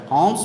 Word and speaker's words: alms: Alms means aid or help. Aid or help. You see the letters ALMS, but we have to pronounce as alms. L silent.